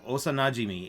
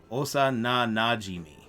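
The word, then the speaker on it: 幼馴染み: okay um so uh osa najimi is a childhood friend okay uh i said it wrong osa na najimi i often say that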